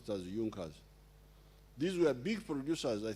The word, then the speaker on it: Junkers: pressure junkers it's written in junkers but they pronounce it as jungkas these were big producers i think of farm